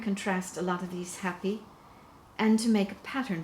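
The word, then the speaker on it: happi: more formal garments and that is called the happy it's spelled h-a-p-p-i it's a much shorter garment to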